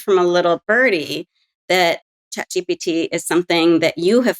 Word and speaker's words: ChatGPT: send slap it into chat GPT or chat jity as we in-house pronounce it here and the answer